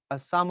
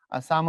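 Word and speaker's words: Psalm: Henry ওরসাদ long ফেলোর সাম of life এটা কিন্তু পের উচ্চারণ হবে না এখানে সাইলেন্ট হবে সাম অফ লাইফ এই কবিতার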